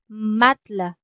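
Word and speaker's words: matelas: Lee matess le matla. L matla. Hindi masyadong pino-pronounce or hindi binibigas yung e.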